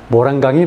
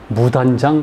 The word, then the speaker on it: 모란강: 한자식 발음도 모란강이 맞습니다. 목단이 아니라. 근데 우리나라 사람들의 다수가 심지어 교과서에도 무단장 그렇게 돼 있어요.